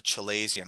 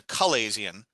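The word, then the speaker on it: chalazion: a little balloon almost and it's called a chilesian or properly it's a calaisian but i've always said chilazi and either way i don't care the pronunciation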